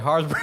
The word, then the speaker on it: Haribo: Harsbro. Yeah, Haribo.